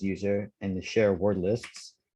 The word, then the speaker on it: usr: which is very convenient in the user usr or which is i think it's pronounced as user and the share word